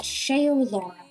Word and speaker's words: Shaeolaura: Um, how do I pronounce my username? My username is pronounced shaol Laura.